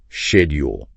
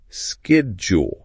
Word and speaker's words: schedule: an example okay so take the word schedule for instance okay schedule in British English it's often pronounced shedule oh shedule but in American English it's more like skule skill same word different sound yeah that's really interesting